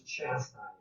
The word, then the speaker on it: chastised: He argued, and a lot of you pronounce it really bad. The word is chastised.